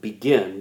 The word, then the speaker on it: Begin: It is negotiated at Camp David between the Israeli Prime Minister, okay, a man named Menachem Begin. Menachem Begin. It looks like begin, but it's pronounced Begin.